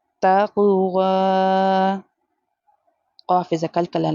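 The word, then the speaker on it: تقوى: After the vowel, the next letter is ya. Ya is here is a silent letter. We have to ignore it. Bit taqwa.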